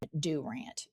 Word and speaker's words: Durant: They pronounce it in southeastern Oklahoma, Dur.